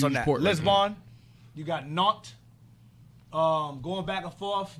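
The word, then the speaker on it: Nantes: France non it's not n Say Non it's pronounced not it's France non N A tes n a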